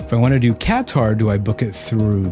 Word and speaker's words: Qatar: They say Qatar, like Katar.